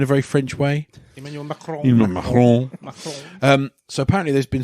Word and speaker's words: Macron: Emmanuel Macron.